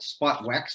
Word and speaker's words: SpotWX: The next one there is one called storm weather, or spot weather, or we often call it SpotWex because of the way it's spelled there, SPOTWX.